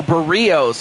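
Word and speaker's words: Berríos: Now the pitcher Jose Burios. Oh, Bereos. Okay, so that's how you pronounce it. Burios just missed.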